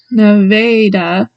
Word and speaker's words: Nevada: The first A in Nevada is pronounced A, so Nevada.